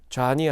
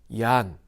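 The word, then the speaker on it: Jan: 또 다른 좌니 있었습니다 그곳 발음으로는 좌니 아니라 얀 그래서 그를 야한 후수라고 불렀습니다 얀 후스는 주후 1402년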